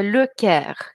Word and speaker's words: le Caire: И, казалось бы, слово «Каир» – это город, но нужно знать, что город Каир произносится с артиклем, это «le Caire».